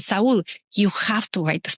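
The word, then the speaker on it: Saúl: So I said, his name is Saul, but we pronounce it Saul in Spanish. I said, Saul, you have to write this book.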